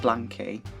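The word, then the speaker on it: BLANK2Y: may 24th blank blankie i thought this is a blankety i think it's pronounced blankie with because the e is replaced by two it's debuting with their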